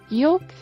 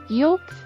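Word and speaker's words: yolk: silent letter is ಐಲ್ ಯೋಕ್ ಮೊಟ್ಟೆಯ ಹಳದಿ ಭಾಗ silent letter L ಯೋಕ್ palm ತಾಳೆ ಮರ ಸೈಲೆಂಟ್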